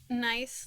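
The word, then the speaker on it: gneiss: Pronounced nice like the word nice, but it's spelled with a G.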